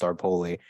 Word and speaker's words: Staropoli: spelled Staropoli, pronounced Starpoli.